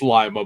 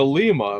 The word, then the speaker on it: Lima: It's Lima, but I heard somebody the other day be said something like, "Oh yeah, go over to Lima." I'm like, "That's the pronunciation of it in Peru, but not in Ohio."